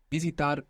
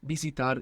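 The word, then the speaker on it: visitar: context like visitation right bitar bitar if you're not comfortable with the soft B just pronounce a v it doesn't matter when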